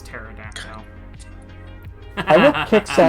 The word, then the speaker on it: pterodactyl: No, because when it goes to the bathroom, the P is silent, so it's pterodactyl.